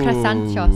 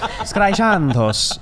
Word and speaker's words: Skraisantos: The Skraisantos. Oh, Krasanchos. No, Skraisantos. Great. Don't even try, Maude. Skraisantos.